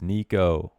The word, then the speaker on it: Niko: Another player whose name rhymes with demo. It's Niko.